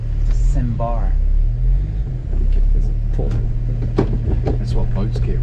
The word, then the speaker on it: Sambar: All right, Sambar test drive. Sambar test drive. Stop calling it Samba. That's how we pronounce it again. Sambar. Motherfucker. Sambar. It's not a sandbar. Sambar.